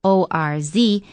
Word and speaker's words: orz: you and that ores which is pronounced o r z is a pictogram that